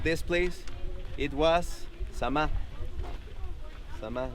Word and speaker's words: Zama: Zama, like Z-A-M-A. Z-A-M-A. Okay? And always is the last syllable that sounds. Okay? Chichen Itza. Okay? Tulum. Coba. Okay? It's always the last. Because some say Zama, but it's not the Zama. Okay? According to the Mayan.